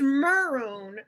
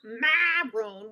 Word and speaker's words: Meron: that sucks I'm sorry it's it's meron not Maron with an a they spell it wrong